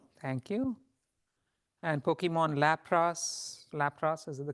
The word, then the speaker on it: Lapras: true it's true thank you and Pokemon Lapras Lapras is the correct pronunciation what's the answer to the second one